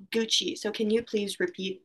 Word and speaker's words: Gucci: there is nike and gucci so anna can you tell me an example of a clothing store um so that's very good but this word is pronounced gucci so can you please